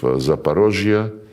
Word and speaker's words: Zaporozhye: And when we now liberate remaining parts of Zaporozhye, this is the Russian way to pronounce it, and Kherson, the people,